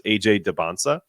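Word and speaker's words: Dybantsa: I say my name the t is silent so it's AJ Debona so for all those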